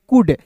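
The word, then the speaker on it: could: कुड सी ओ यू एल डी को देखिए सी का क ओ यू है तो उ के रूप में उच्चारण डी का डॉ कुड हो गया।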